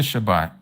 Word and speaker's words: Shabbat: Remember the Shabbat and to keep it set apart.